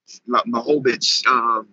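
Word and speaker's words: Błachowicz: How you pronounce his last name? Blachowicz.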